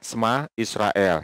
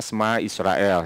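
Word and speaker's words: שמע ישראל: Nah, dua kata yang pertama ini adalah bacanya adalah Shema Israel ya.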